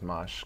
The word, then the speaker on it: Mache: Amash better known as mush customs that's how you pronounce it much like a mosh pit okay what's the worst